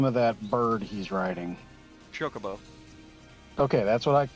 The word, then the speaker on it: Chocobo: How do you pronounce the name of that bird he's riding? Chocobo.